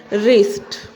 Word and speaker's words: wrist: उसी तरह से है रिस्ट। अब रिस्ट में ये W प्रोनाउंस नहीं होगा।